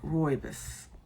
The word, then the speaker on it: rooibos: And I was told to say like rooibos. It's not the way I wanted to say it.